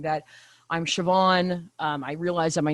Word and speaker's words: Siobhan: now is that I have learned how to pronounce Siobhan.